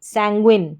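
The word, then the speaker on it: sanguine: सैंग्व, सैंग्व, SANGU, सैंग्वइन, सैंग्विन, सैंग्विन इस तरीके से, सैंग्वइन ऐसे पढ़ेंगे। तो पूरे को साथ में मिलाकर पढ़ा जाएगा सैंग्विन, सैंग्विन, सैंग्विन इस तरीके से।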